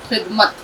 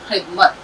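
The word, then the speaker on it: خدمت: तो खे प्लस दाल plus meme plus ते, खिदमत। इसको जब हम जोड़ के लिखेंगे तो इस तरह खे को शॉर्ट करेंगे, दाल ले आएंगे, खे दाल जर खिद, मीम ते ज़बर मत, खिदमत।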